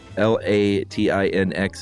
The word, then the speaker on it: Latinx: Um, L A T I N X is pronounced, she says, Latin X.